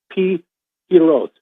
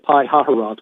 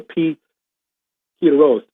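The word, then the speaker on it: Pi-hahiroth: It's Pi Hiroth. Looks like Pi Haharoth, which is the way I've been saying it, but I guess in Hebrew it's a Pi Hiroth, in front of a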